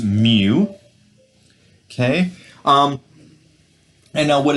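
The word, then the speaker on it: μ: little letter here case this is the Greek letter pronounced Moo okay um and now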